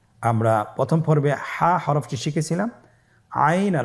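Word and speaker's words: عين: আইন হরফটি উচ্চারণের সময় অবশ্যই তিন আলিফ টেনে পড়তে হবে। এখন আইন হরফটি বারিক হরফ। পাতলা করে পড়তে হবে। আপনার আমার সাথে বলুন আইন।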